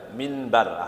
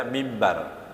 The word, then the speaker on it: mimbar: Itu kalau dibaca mimbar gitu ya, minbar asalnya. Orang membacanya mimbar padahal minbar gitu ya. Minbar. Tapi enaknya dibacanya mimbar.